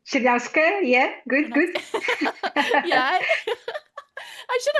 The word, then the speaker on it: Chernyavska: Chernyavska, yeah, good.